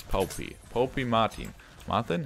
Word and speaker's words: Poppy: It's not pronounced poopy. It's Poppy.